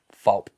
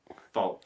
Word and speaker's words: Folpp: Fault. Fault.